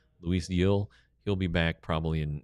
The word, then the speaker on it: Gil: Uh, Yel is how it's pronounced. G I L. Yel, Luis Yel.